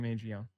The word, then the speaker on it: Mangione: This is Chef Manion.